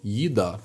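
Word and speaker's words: еда: Teraz słowo jida, czyli jedzenie. O czym mówicie? Aidie, czyli litera J. Skoro tutaj akcent padał na końcówkę, w odmianie też będzie padał na końcówkę.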